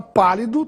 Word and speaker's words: pálido: e isso ocorre porque a palavra pálido tem a sílaba mais forte na antepenúltima sílaba P portanto é uma proparoxitono a palavra palito